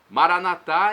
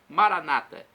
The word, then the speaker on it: Maranatá: Maranatá é a pronúncia católica. Nossos irmãos separados, os evangélicos ou protestantes, dizem Maranata. Não importa a pronúncia, o significado é o mesmo.